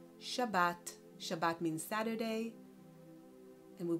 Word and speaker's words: Shabbat: Shin, we add an aqua vowel, we create the syllable Sha. Then Bet with a vowel aqua, Ba. And then Tav, Shabbat.